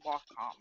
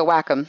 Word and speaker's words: Wacom: to look at the computer screen, not the Wacom. Well, it's a Wacom. Yeah, they pronounce it Wacom, but the Cintiq is supposed